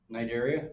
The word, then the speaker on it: Cnidaria: Name an animal in the phylum Cnidaria. C is silent.